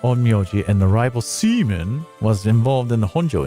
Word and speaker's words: Simon: His name is spelled Simon, but it's spelled pronounced seaman.